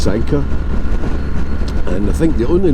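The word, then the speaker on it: Sanquhar: is its name so it's spelled s a n q u h a r pronounced Sanka and I think the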